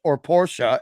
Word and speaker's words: Porsche: So, you know, you could have a $200,000 Porsche, as it's properly pronounced.